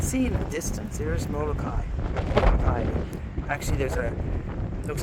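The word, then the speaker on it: Molokaʻi: It usually means you pronounce the vowel separately. Otherwise, it's Kai. A-I is I. And if there's an apostrophe between the A and I, it's I.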